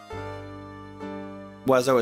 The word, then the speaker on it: Wiseau: Wazo is pronounced Wazo. Yeah, that's correct. Yeah, that's French.